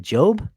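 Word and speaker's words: Jobe: Dortmund has given uh how do you is it Job? Is that how you say it?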